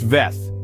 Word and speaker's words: vez: The next word is vez. It's pronounced veth. Don't forget the sound at the end.